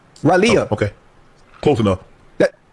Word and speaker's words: Raleigh: I've been to Raleigh. Raleigh. Raleigh.